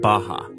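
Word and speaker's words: Barra: Out here in the west is a place called Baja. R's are pronounced like H in Portuguese.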